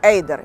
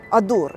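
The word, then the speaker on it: Adur: на мості над річкою Ейдер. Як ми кажемо українці, адур. І для мене це незбагненна загадка, чому Арун пишеться Арун і читається Арун, а Адур пишеться Адур, а читається Ейдер.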